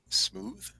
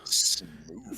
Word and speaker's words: smooth: So scroll style smooth. Oh, smooth. You gotta say it. You gotta say it like smooth. Smooth. No, you gotta say smooth Smooth. with a V.